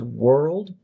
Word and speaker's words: world: So were you can treat the L also as a vowel.